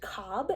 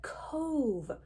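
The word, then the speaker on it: Cobh: also head to Cove which is a Gaelic word and not pronounced Cobb in the way that it looks to our English eyes but Cove here you can find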